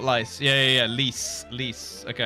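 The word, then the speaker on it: Lyse: stor blood right Lisa what's that called lice leas leas lice what's her name she's either to me lice yeah le le le le not lice yeah yeah yeah leas lease okay nabuo spelled Le pronounced leas yeah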